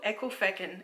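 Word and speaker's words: Ecclefechan: screen, but from what I understand, it's called Ekelfecken, and it sounds really rude because these mitts actually cause me a lot of grief, and it's mainly because they're... So there's a lot of Ekelfecken while you were...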